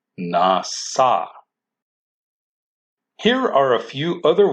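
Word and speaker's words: נשא: But this word is also spelled with a shin, but the shin is still pronounced with an S, nasa.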